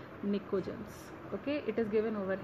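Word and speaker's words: pnictogens: पी is silent, it is called as निकोजेंस.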